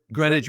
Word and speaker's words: Greenwich: Greenwich Meime.